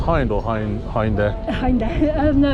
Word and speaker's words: Hind: Wait, is it pronounced Hind or Hind there? Hind.